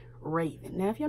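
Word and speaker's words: Rayven: Raven, who is Karen and Ray's daughter, and they spell her name R-A-Y-V-E-N. Raven.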